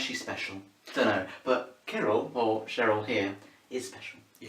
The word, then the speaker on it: chiral: So this video isn't about Cheryl, it's about Chiral. Or Chiral, or Chiral. From now on we're going to call it Cheryl, because we know that's wrong. It's spelled like this, don't we?